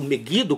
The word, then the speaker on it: Megido: Israel vai estar sitiado no Monte Megido, que também é um monte simbólico. Ele não existe. Ele não existe. Ele é simbólico. É porque e eh ali está dizendo monte megido, meuido, como alguns pronunciam, mas será propriamente eh